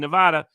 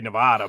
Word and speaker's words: Nevada: And so I can just describe it from my experience in Nevada this election cycle. I like to say Nevada, but Nevadans tell me it's Nevada, which I hate that pronunciation. You got sounds English.